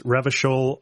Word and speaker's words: Revachol: They very kindly give you a small pronunciation guide. So it's Revachol, Aranya, and Clausier.